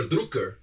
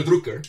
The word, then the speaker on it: Drucker: had this guy, Peter Drucker, or as the Americans call Peter Drucker. He was from Austria, I believe. So if we pronounce his name the German way, it would be Peter Drucker, right?